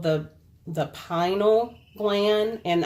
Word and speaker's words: pineal: it's called the the Pinal gland and I may be pronouncing that or all I think some people pronounce it pineal gland also known as